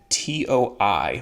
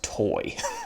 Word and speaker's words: Toi: Okay, so then we're going to talk about a guy named Toi, which I'm assuming is pronounced Toy.